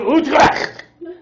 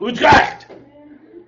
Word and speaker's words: Utrecht: The Peace of Utrecht. That's how you say it, okay? The Peace of Utrecht.